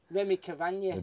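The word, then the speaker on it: Rémi Cavagna: How do you pronounce it? Remy Cavagna.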